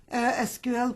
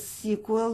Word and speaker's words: SQL: SQL pronounced as SQL, not always. You can use SQL or you can use SQL, MySQL or MySQL. I pronounce it as SQL. No one, it doesn't hurt when you pronounce it SQL or SQL.